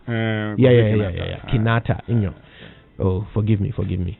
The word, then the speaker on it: Kinata: h unite virtual concept how do you pronounce this guy's name kofi what kinata kanata yes and you kept doing kenyatta did i say kenyatta yes oh wow that was a slip okay it's kinata isn't it it's a it's a